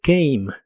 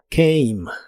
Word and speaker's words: came: En el pasado es came. En este caso la a se pronuncia como e y la e del final es muda de nuevo. Came.